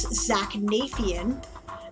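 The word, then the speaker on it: Zaknafein: for different names right this is how i found out things like the word is zach nafion drizzed right and menzo baronson right otherwise i would have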